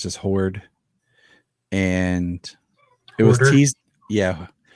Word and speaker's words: Horde: That's how I pronounce it. It's just Horde, and it was teased. Yeah, Hodor.